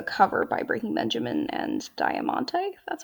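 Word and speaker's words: Diamante: this is a cover by breaking benjamin and diamonte that's how you pronounce that it's beautiful also not playing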